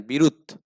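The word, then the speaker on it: বিরুৎ: আসলে বিরুত উদ্দবে বুঝছেন বিরুত উচ্চারণটা হবে কি বিরুত ঠিক আছে তো বিরুত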